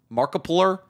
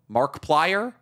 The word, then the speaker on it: Markiplier: Markiplier? Mark Plier?